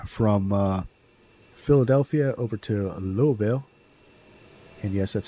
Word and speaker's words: Louisville: Uh we're doing a little cargo uh little short cargo run from uh Philadelphia over to Louisville. And yes, that's how you pronounce it. And uh or or Lovel, but uh yeah.